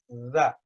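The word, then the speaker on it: ذ: You stick the tongue out, and the top teeth and the bottom teeth are literally just biting onto the tip of the tongue.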